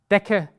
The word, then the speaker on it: Decke: We also have the combination C and K, which is very easy. Here you only have one pronunciation, it's K. So in fact, you could actually take away the C and you would still be pronouncing it K, but why should we keep things simple if complicated is also available? The blanket is die Decke, the Tick ist die Zecke und das Stück ist the piece.